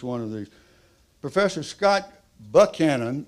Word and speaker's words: Buchanan: Professor Buchanan. The reason I pronounce the name that way, everybody calls him Buchanan, but he's from Georgia, and they call it Buchanan over there.